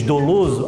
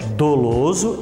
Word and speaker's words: dolo: e dolo tá que como você diz do luz algumas algumas pessoas têm a dizer do não a pronúncia correta é toulouse e toy a última